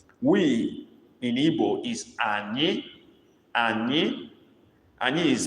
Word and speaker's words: anyị: We in Igbo is Ani. Ani. Ani is spelled A-N-Y-I, with the I having dot under.